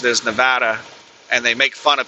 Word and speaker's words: Nevada: Nevada, the state of Nevada. The only people I've ever heard refer to it as Nevada are tourists or people who recently moved to Nevada.